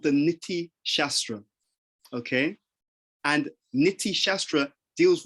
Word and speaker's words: Niti Shastra: So the Niti Shastra is full of these short statements which allow